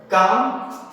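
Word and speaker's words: calm: तो इस तरह से हम लोगों ने आज सीखा कि एल के बाद एम हो तो साइलेंट रखेंगे, एल के बाद डी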